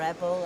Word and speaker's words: Ebel: I'm not quite sure how you pronounce it, Ebel or Ebel, I'm not sure. I think you can pronounce it either way. Can you? Oh. I'm from Yorkshire, it's Ebel.